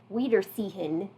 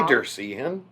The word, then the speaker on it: Wiedersehen: Yeah, we didn't pronounce that correctly at all the first time we said that, by the way. We said it very bad. I think I pronounced it Wiedersehen. I think that's how I pronounced it. But yeah, that's obviously very wrong.